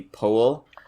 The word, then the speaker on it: Powell: I've read online that he apparently pronounced it Anthony Powell.